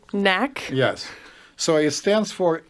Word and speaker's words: NAC: day is called m.a.c can you say it properly nak yes so it stands